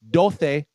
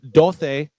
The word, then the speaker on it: Dulce: are, but I believe dulce means sweet. D-U-L-C-E is Yes. sweet, yes. Yes. Is that what you're saying, Dulce? That like that? Dulce. Dulce. No, sorry. Yeah, that's how you're supposed to pronounce it.